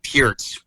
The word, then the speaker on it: Peart: Like him and Neil Peart from, or Peart, as you're supposed to pronounce it, from Rush were